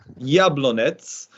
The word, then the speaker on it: Jablonec: I can't get my Czech pronunciation right. Jablonec.